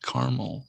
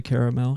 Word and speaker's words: Carmel: very aware of mount carmel and uh i don't say caramel because that is just not how it's pronounced but a-r-m-e-l it reminds